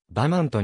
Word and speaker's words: Vermont: 表記されるが現地の発音ではばマウントに近い本稿において